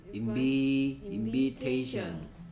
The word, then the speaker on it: invitation: 그래서 protect, protection, collect, collection, create, creation, educate, education, imagine, imagination, invite, invitation, invite, invitation. I의 발음이 달라집니다. invite I였고요. invitation은 E로 바뀝니다. 발음 기호로 하면 I고요. 그다음에 얘는 E 발음으로 바뀐다.